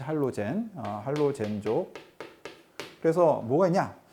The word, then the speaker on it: 할로젠: 할로겐. 요즘에는 할로젠이라고 읽죠. 할로젠.